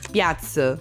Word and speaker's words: piață: And then you have sounds like 'ț' for example in 'piață' (market) or 'ș' (an 'sh' sound) like in 'școală' (school).